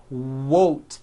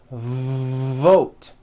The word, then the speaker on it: vote: not to do this the word is not won't its vote every V that you will see in English is made with this lip biting position but when you see a V it's never whoa whoa whoa it's never a W sound it's always mmm vote like that let's practice some words